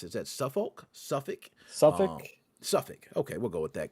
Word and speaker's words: Suffolk: Now, a Suffolk, I'm not sure you pronounce it, is that Suffolk? Suffolk.